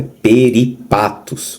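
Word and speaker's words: περίπατος: Perdão, pronunciado, é peripatos.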